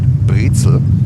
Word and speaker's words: Brezel: We pronounce it pretzel here. In German, you pronounce it. You pronounce it Brezel.